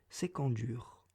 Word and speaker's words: Iskandar: de l'oral sur terra iskandar se prononcerait c'est quand dur et qu'aion ce prix